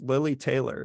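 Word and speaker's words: Lili Taylor: So a brilliant thing that they do in The Conjuring is they cover, sorry, I mispronounced her name before. It's Lily Taylor.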